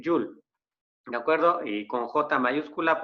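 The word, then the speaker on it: joule: una unidad llamada llull se escribe jaule no pero se lee yoon de acuerdo con jota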